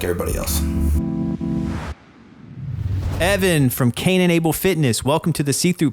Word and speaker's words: Cane & Able: And I do that through my company called Incurable Fitness. It's spelled C-A-N-E and A-B-L-E.